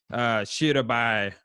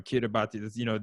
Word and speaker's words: Kiribati: are at our doorstep, like the fact that Shirabai, I always say it wrong. Kiribati, the islands of the South Pacific are literally going under the water right now.